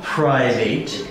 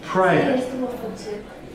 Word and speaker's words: private: The words chocolate and private are exceptions to the rule of the silent E at the end of a word. So, it is not private, it is private.